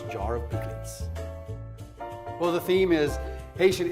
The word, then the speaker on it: pikliz: Explain what Pikliz is. Am I saying it right? Pikliz? Pikliz. With the accent. Okay, Pikliz. Yeah, you need the French accent.